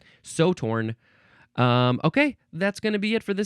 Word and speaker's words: Sew Torn: It is called So Torn, but so is spelled S-E-W.